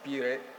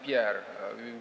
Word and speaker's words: Pierre: As he said, my name is Pierre, but the Indian pronounce Pierre. But my name is Pierre.